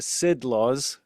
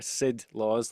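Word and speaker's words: Sidlaws: fairies riding over the Sid laws which is the name of the hills over there. Sid laws like as in Sidi.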